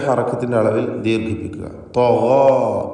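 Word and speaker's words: طغى: തഗാ, തഗാ എന്ന് പൂർണ്ണമായും തഫ്ഖീമോടുകൂടി ഉച്ചരിക്കുവാൻ ശ്രദ്ധിക്കുക.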